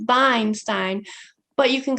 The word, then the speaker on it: Weinstein: I'm Professor Weinstein, actually pronounced Weinstein, but you can call me.